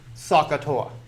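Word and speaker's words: SOHCAHTOA: have them memorized there is this pneumonic there pronounce sakatoa and it's one of those things that just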